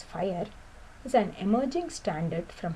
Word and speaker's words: FHIR: us see official observer ofher pronounced as fire is an emerging standard